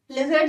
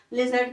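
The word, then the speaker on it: lizard: सबसे पहली बात तो स्मॉल होता है, कितना स्मॉल, लिजर्ड जैसा, अ लिजर्ड sort of thing, sort of thing मतलब उसके जैसा। लिजर्ड देखिए ना छिपकली, लिजर्ड की pronunciation लिजर्ड, नॉट लिजार्ड, लिजर्ड, लिजर्ड, chameleon, ठीक है।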